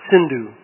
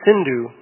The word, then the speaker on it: Sindhu: called the Indus, or Sindhu. Actually, the word Hindu comes from the mispronunciation of that river's name, because in Sanskrit it is Sindhu, but people in Iran